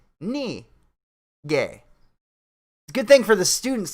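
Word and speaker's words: 那个: a pause between syllables so instead of nagey it's not gay it's not nige it's knee gay good thing for the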